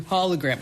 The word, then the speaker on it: hologram: HOLO has one L, like holy, holistic, solo, polo. Okay, that's what he writes to me. So I actually wanted to make sure that I pronounced this word correctly. So I went to the America's source. I went to Google. Ken in Maryland. It's pronounced hologram, not holy, not solo, not polo, hologram.